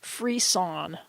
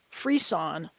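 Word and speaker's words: frisson: he said it's spelled Fri sson and it's pronounced free sawn free sawn and it's it's a condition where that's elicited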